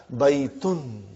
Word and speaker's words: بَيْتٌ: Marthe will be Mohammad they are not very sure about the endings because that's the way you stop it you don't put that you know pronounce the last but here in our class we will pronounce everything so that we get a good idea of what's going on in the sentence so you will always be reading haha bye eaten haha bye eaten no